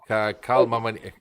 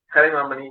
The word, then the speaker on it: Kalimamani: Party was Karl Mamani. Let me get the name right. Can you just help me out with the name here? I don't want to mispronounce the name here. Kalimamani Yegavan. Kalimamani, yeah. She's been there in the